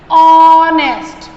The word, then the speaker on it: honest: So please clear this thing that the words starting with the letter H but H is silent, the sound of the H does not come, okay, or you cannot hear the sound of H.